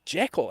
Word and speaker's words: Jekyll: But apparently, I did a video about Jekyll and Hyde, and apparently it's not pronounced Jekyll, it's pronounced Jekyll, which is an interesting Snapple fact.